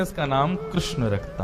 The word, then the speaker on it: कृष्ण: बंधुओं, मेरा ऐसा एनालाइज है कि कृष्ण शब्द का उच्चारण अधिकतर लोग अशुद्ध करते हैं। लोग या तो किशन बोलते हैं या कृष्ण बोलते हैं, मतलब जो भी बोलते हैं।